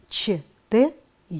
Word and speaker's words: что: таких буквосочетаний немного это ч т о ч н вам необходимо выучить их произношение нужно обязательно правильно произносить следующие слова с буквосочетания мече ты пишем что произносим что пишем чтобы произносим чтобы